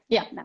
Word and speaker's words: Nappe: How do you pronounce it? Nappe? Nappe. Yeah, Nappe.